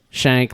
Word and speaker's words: Schenck: Shank, like shank somebody in the ass.